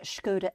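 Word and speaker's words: Škoda: And then you've got the Scoda Epic.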